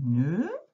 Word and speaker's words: nœud: Allez, dernière ligne, un nœud, avec le D qui est muet et le E dans le haut.